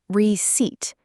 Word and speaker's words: receipt: Receipt. The P is silent.